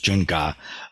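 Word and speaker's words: 增加: modern Mandarin, usually it's combined with another character that's pronounced ga. And if you look up this character on Google, you'll find graphs of things that are increasing. So this is jung ga, which means to increase,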